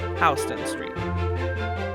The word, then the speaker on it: Houston Street: at a cab that cuts you off, or pronounce it Houston Street.